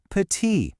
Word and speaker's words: petit: See that T on the end? You just ignore it. It's pronounced petit.